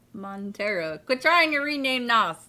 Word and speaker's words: Montero: lil nazar and tara you always want to add an extra syllable in there it's not montenero it's just montero but trying to rename